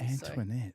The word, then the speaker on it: Antoinette: It's a long name. It's got 3 syllables. Antoinette. So. Antoinette.